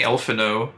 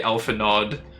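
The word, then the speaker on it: Alphinaud: Yeah, that's weird, because I was saying Elfino, because the D should be silent. But I swear in the last series of cutscenes, I heard one of the NPCs say Elfinod.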